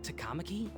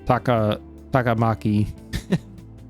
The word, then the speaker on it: Takamaki: Hey, wasn't that Takamaki? Takamaki. See, I was saying Takamaki.